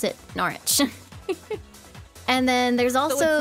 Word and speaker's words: Norwich: o r wi i c h but you pronounce it norch and then there's also it's not Norwich or norwi no it's it's narch narch and